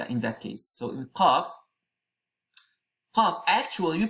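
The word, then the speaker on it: ق: Qafa wal Qur. You cannot say Qafa. You have to stop as Qaf.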